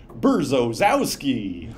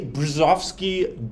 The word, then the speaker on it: Brzozowski: Tick Tock lady voice it said burzozki which is not how you're not how to say it um anyway the brzezovsky derivative um is called